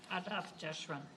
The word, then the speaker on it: Adath Jeshurun: Do you know how to pronounce that? Adath Jeshurun.